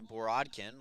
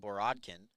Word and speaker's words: Borodin: Yates is caught by borodkin my apologies I've been saying it wrong but I finally been corrected that is Anton Borodin so it looks like